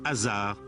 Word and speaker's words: Asar: de la Mort Osiris dont le nom se prononce hasard en ancien égyptien il y a une